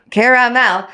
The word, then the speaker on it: caramel: So let's break that word down. Care-a-mel. Yeah, thank you. But It's care-a-mel.